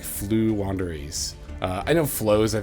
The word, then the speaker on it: Floowandereeze: is going to be i've said this name wrong in the past but i'm pretty sure it's flu wanderies uh you know as